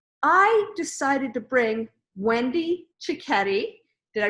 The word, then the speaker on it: Cicchetti: Now, I decided to bring Wendy Cicchetti. Did I pronounce it right? Yes, you did. Wendy Cicchetti, good Italian name.